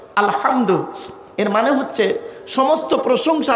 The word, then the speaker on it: আলহামদু: রাব্বিল আলামিন আলহামদু এ গলার ভেতর থেকে হে এটা উচ্চারণ করবেন আলহামদু এর মানে হচ্ছে সমস্ত